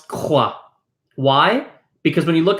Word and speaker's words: croix: how the mouth works, when you pronounce the k in croix, you're pronouncing k using the back of your tongue. The back of your tongue is the part of your mouth that uses to make the sound k.